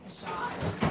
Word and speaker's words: Peychaud's: I always say Peychaud's.